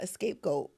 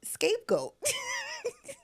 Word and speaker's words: scapegoat: No, it's not escapegoat. What is it? Scapegoat. I am so confused. Spell it. S C A P E. Goat. Really? Yeah. You're lying. Like there's no E in front of the I was saying escape the whole time.